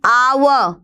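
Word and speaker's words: hour: एन आवर, H silent होता है, अ की ध्वनि है।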